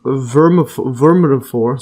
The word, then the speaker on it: vermiform: And the appendix or vermiform, see the pronunciation?